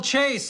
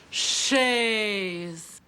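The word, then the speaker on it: chaise: Beautiful Chase, isn't it? I believe it's pronounced Shay.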